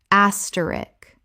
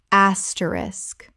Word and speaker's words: asterisk: Word 285, asterisk, common mispronunciation, asterisk. Correct pronunciation, asterisk. 3 syllables with the SK clearly at the end. The K at the end is not silent.